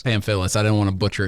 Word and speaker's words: Pamfilis: Pamfilis. Pamfilis.